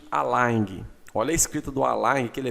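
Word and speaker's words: align: é bem característico tá em inglês é a l i GN tem gente que escreve Aline assim ó al não é al al tá nem se pronuncia esse esse G abro fecho aspas duplas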